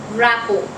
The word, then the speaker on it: rapport: quickly the next word is wrap-up the correct pronunciation is rappo the tea is silent in the word rapport